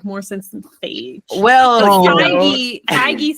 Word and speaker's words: Feige: I thought it was like Phage. I have no idea. It's Kevin Feige.